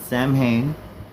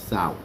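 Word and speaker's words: Samhain: It's not Sam Hayne. It's sour.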